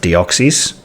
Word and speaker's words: Deoxys: looking at it and it looks like it's pronounced Deoxys I'm just going to run with that this is the Deoxys